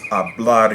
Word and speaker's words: hablar: You're probably wondering, why'd you use hablar here? Well, hablar, Hablar, ends in a consonant other than N or S. And the natural stress there is on the very last syllable because of that rule.